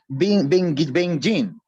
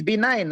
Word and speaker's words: benign: I think you kept pronouncing this wrongly. Benjin. Go back there, it is benign, right? Okay, even if you cannot pronounce it, is fine, but you can glue it, right? I'm not sure if I'm pronouncing correctly also, but it's not Benjin, no. Malignant versus benign tumor, right? Okay, it is not Benjin.